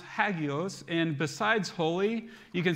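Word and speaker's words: ἅγιος: that holy comes from and it's so it's pronounced hagios and besides holy you can see that that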